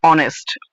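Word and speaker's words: honest: আমাদের উচ্চারণ হচ্ছে অনেস্ট।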